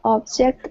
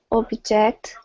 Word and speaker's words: object: Lawyers often object to questions during a trial. Excellent. What's the pronunciation difference? Is the stress the first one in the first syllable? And the second, at the second syllable.